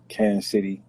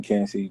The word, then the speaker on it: Kansas City: from kansas city pronounce it kansas city we don't pronounce the sas that's if a [